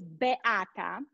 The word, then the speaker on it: Beata: you let me go back my name is be atta he did great you need i need